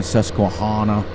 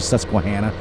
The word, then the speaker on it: Susquehanna: and i laughed because farmer klein he always mispronounced it he was saying susquehanna susquehanna valley and it's actually susquehanna like i always would get on his streams and be like uh farmer klein it's susquehanna it's like banana um the